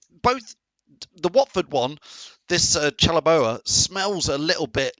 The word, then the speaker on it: Chalobah: Marco says it's pronounced Chalobah.